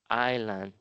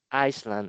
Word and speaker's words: island: This is a map of Carnary Island. Okay, be careful because the S is not being pronounced here in this word. So, it will not be Iceland.